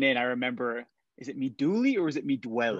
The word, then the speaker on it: Mi Duole: cycling, and therefore we do our best to pronounce it right. So sure. Mi Duole. Mi Duole.